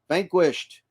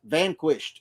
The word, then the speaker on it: Vanquish: in my truck always vanquished you got your name fixed vanquished i said it wrong sorry i bought a router i still haven't used it yeah vanquish hey how you doing thanks